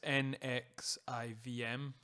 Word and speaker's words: NXIVM: It was like Nesquik or something, but not that. It's NXIVM. So I was pretty close with Nesquik.